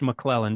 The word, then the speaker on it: McClellan: have a unique username it's pronounced mlen just like my last name it's spelled m a